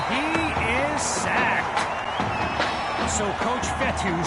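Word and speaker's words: Fetu: is sacked so coach vettel spelled f-e-t-u for the longest time i was pronouncing it coach fetta like feta cheese so let's just say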